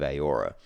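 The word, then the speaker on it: Eora: which is a place within the world of aora aora is where pillars of Eternity is set that's spelled e-o-r-a um and yes steadfire is is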